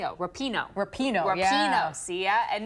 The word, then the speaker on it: Rapinoe: the World title for the US is Megan Rowe repay Oh Rapinoe Rapinoe I'm Josie yeah and no Chad um